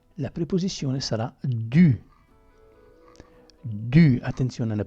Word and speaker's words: du: Du, attenzione alla pronuncia, du.